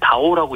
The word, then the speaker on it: DAO: 그러니까 영문으로는 DAO 이렇게 쓰고요. 네. 이걸 이제 다오라고 읽는 거거든요.